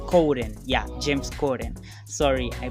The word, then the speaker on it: Corden: pellman um meryl streep and james kaden james coden coden yeah james corden sorry i pronounced the name like yeah so and many